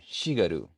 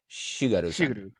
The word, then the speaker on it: Shigeru: old how do you say his name? Shigaru. Shigaru-san. Shigeru. Yeah, Shigeru. Shigaru-san.